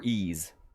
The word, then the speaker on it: Ys: people pronounce it either East or Ease. It's actually like, in Japanese, it's like I-I-S-U, like Isu, or something like that, Is.